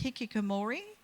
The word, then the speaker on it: hikikomori: called, and Japanese people will know that my pronunciation's way off, but it's hikikomori, and it's a phenomena which has there's 500,000